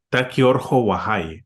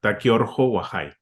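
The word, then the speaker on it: Taki Urqu Wayi: presenta otro ep eh se pronuncia Taki orj wahai O sea la k como J Taki orj wahai es una palabra en quechua Cómo fue la Inspiración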